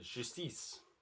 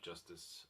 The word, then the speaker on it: Justice: This is the French band Justice, or Justice, I think their name should be pronounced, and their debut album of the same name, I believe.